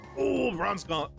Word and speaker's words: Bronzong: I always Bronzong Bronzong. I couldn't say his name at first. I said Brong.